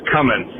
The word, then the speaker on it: Cummins: I was listening to the current episode, and Jimmy, it's Cummins. The G is silent. There's no G.